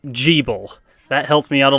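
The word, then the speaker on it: Gebel: pronunciation for this guy it's pronounced G bull that helps me out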